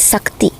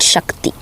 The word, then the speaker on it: Sakti: It's Siva. If you look at in how it's pronounced and said in uh old ancient language like Tamil, you'll say it's Siva. It's not Shiva. It's Sakti, not Shakti. Right? The her came in later.